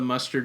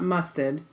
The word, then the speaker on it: muster: it out mus ter because it's not mustard its Muscat it sounds like mustard yeah that's another mistake yeah so muster alright Jenny what is